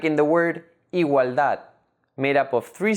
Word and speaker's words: igualdad: Like in the word mamuts, made up of two syllables, ma and muts. The last syllable, muts, is the stressed syllable.